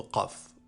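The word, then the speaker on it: قاف: La lettre Qaf est un K emphatique, c'est-à-dire que la lettre est grossie et n'est pas amincie comme la lettre K précédemment vue.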